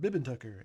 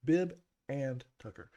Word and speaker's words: Bib & Tucker: And if I pronounce it the way I normally do, it comes out Bib Tucker. And that people go, Bibbin? Bibben? No, it's Bib and Tucker.